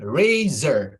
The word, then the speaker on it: razor: Bacanya ini razor ya. Razor. Razor. Razor. Razor. Z-nya agak ini, agak ditekan lah. Ada bassnya.